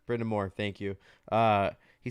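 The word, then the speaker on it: Brind'Amour: quote as it Rob bryndemere is that how you say his name no more Brenda Moore thank you uh he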